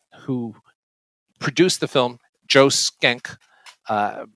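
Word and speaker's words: Schenck: produced the film joe skenk uh it's it's not spelled like that but i believe that's how it's pronounced uh was um one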